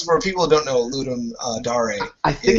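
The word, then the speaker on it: Ludum Dare: do it for ludum I've never known how to pronounce it dare or Dar I I've been told it's ludum Dar even even when I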